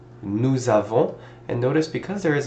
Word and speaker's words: nous avons: starts with a vowel, usually what we will do is we will link these two together with a Z sound to make it sound like nous avons instead of nous avons, two separate words.